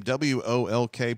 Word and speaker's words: Wolk: Wolk, last name W-O-L-K, pronounced Wolk.